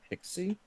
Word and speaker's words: PKCE: I always just read PKCE in my in my head. People call that pixie.